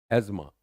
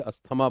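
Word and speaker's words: asthma: एज्मा जिसको हम बहुत प्यार से अस्थमा बोलते हैं। अस्थमा बट दैट is incorrect pronunciation. Right? यह टीएच आता नहीं। दैट इज एज्मा।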